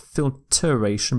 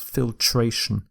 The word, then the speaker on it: filtration: process of filtering something so the e in filter is dropped so not filteration but filtration filtration some synonyms for